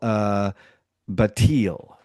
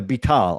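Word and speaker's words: Betaal: They're called Batil. I think that's how you pronounce it. Batil, right? Batil. They're a species of people that drink blood. Yeah, Bital. I'm sorry, Bital.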